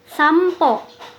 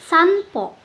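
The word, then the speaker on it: 散歩: Berikutnya, untuk yang pelafalannya terdengar seperti ada di kata ini, bimbo, sampo. Nah, jadi bukan binbo ataupun sanpo, tapi lebih ke M.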